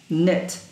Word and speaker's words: knit: crawl dance wash knit remember K and N letter K and N together they do not pronounce it's like I don't know no knit page 43 play watch